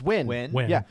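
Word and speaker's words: Nguyen: And for the longest time I just I just said it phonetically until I was in front of him and then you got cancelled and then so and then he was like it's win and I was like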